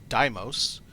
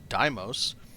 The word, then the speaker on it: Deimos: There have been several comments correcting my pronunciation. You need to head yourself out to the Deimos Star Yard yourself, dock, and listen to what the dock person says. She calls it Deimos.